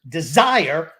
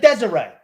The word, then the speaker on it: desire: the same guy who didn't know the pronunciation of the word desire yesterday d-e-s-i-r-e you called it desiree ah i'm gonna murder